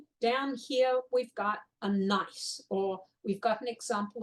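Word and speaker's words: gneiss: slate fite shist and nice so here um this is spelled g NE I SS but it's pronounced nice think Minnesota nice um and then there's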